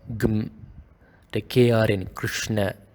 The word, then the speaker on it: Krishna: Krishna, don't make it as Krishna or Krushna. Krishna, Gum.